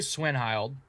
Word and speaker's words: Cwenhild: I think we decided on that pronunciation Cwenhild? because I think I've said it three different ways and everybody else has said it three different ways. Right. So we'll say Cwenhild.